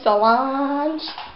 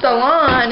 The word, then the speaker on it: Solange: Mama keeps calling me Solange.